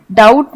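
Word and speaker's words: doubt: Island इस word में डाउट में बी साइलेंट है तो इसे हम डाउट बोलते हैं इसे हम रेन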